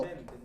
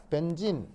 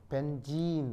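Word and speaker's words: benzene: 벤젠. 바로 그 유명한 벤진. 아시겠죠? 이게 이제 옛날에도 얘기했지만 E가 E 장모음이에요. 그래서 이제 벤젠 이거는 이제 약간 이제 우리식 발음이고 원래 영어 표현은 벤진 아시겠죠?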